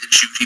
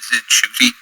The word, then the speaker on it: Ncuti: apparently is in his name apparently is in shy but he sometimes pronounced it inoy he did not realize that it was pronounced with the N until he had a